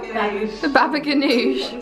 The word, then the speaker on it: baba ganoush: Babouche kebab. Babouche kebab. No, what's it called? Ganoush. The baba ganoush.